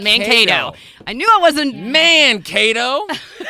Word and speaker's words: Mankato: That's how it's pronounced. Mankato.